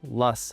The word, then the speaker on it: Loess: Yes, it's pronounced Luss, like bus.